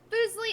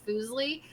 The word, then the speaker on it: Fuslie: It's like my name, so I'm totally cool with Leslie as well. So if you're ever struggling to say Fuslie, just because I know